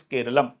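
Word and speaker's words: കേരളം: क्योंकि केरला जो शब्द है वो इंग्लिश ट्रांसलेशन है, मलयाली भाषा में जो है इसका नाम केरलम है, मतलब जो लोकल प्रोनाउंसिएशन है दैट इज केरलम।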